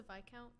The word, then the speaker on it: viscount: know about viscounts I you don't pronounce yes it's a v count yeah it is a